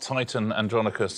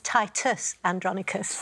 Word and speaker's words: Titus Andronicus: I've said it wrong it's not Titan andronicus I'm afraid oh that's not fair Sher it's Titus andronicus Titus andronicus is the name Titus Andrus well played